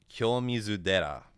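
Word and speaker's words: 清水寺: temple in Kyoto called Kyomizu Dera, and the Dera is what happens when Tera undergoes rendaku. You voice the first syllable, so it turns the T into a D.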